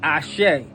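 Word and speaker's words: Àṣẹ: Just like when you hear people say Ashe online, they spell it A-S-E.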